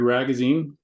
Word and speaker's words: Ragazine: I'm Ragazine, rhymes with magazine.